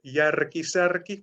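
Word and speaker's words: Järki Särki: first case is called yar kisarki so if you roll your arse you can do the do the brand name it's a simple food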